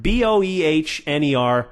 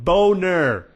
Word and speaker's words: Boehner: and i'm sorry alright his name is pronounced BOE h ner no it's spelt that way I'm sorry it's belt that way its Boehner okay that's a boner is your name no